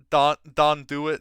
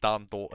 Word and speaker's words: Don Do It: Don Do It, now more properly capitalized to make sure we don't pronounce it Don Dolt anymore, even though it's gonna be burned into all of our heads.